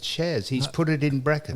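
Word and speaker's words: Syaz: Y A Z but it's S YZ it's pronounced shez it's pronounced shez he's put it in brackets.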